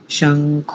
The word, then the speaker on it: शंख: स्थ माधवा पांडव दिव्य शंख प्र मतो माताजी श को बोलिए शंख शंख पिछली बार बोला था